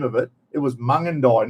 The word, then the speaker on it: Mungindi: Then we went up through Mungindi, not Mungindi. I called it Mungindi, and it wasn't until Phil Taylor said, "You idiot, it's Mungindi."